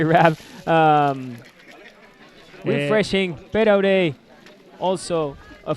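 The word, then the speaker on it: RAB: RAV would be in Spanish, so I would say RAV.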